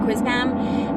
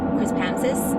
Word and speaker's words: Quispamsis: We call it Quispam, but it's actually called Quispamsis.